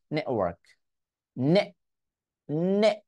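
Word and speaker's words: network: নেটওয়ার্ক এভাবে বলতে পারি বাট একটু খেয়াল করে দেখুন তো স্টপ যদি করে দিতে পারি নেটওয়ার্ক নে নে মানে টি উচ্চারণ করে নে ধাক্কা দিলাম জাস্ট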